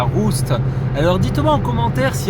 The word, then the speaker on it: Rust: trémas sur le U, parce que s'il y en a on dit Rust et s'il n'y en a pas on dit Rust, voilà.